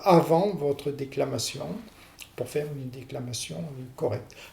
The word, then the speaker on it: déclamation: Le mot déclamation lui-même, eh bien, tous les mots qui se terminent par sion se prononcent, le sion se prononce en 2 syllabes.